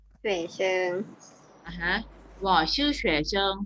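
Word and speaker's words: 学生: ว่า นับ เรียน ออก เสียง ว่า ไง คะ ว่า เฉว เชิง เฉว เชิง อาฮะ ห่อ ชื่อ เฉว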